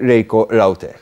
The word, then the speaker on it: Reiko Raute: Good morning, Reiko Raute, yes? Good morning, bonjour. Bonjour. Did I pronounce it correctly?